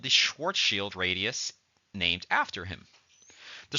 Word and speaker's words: Schwarzschild: I believe it's Schwarzschild, if you're being particularly Germanic in your pronunciation.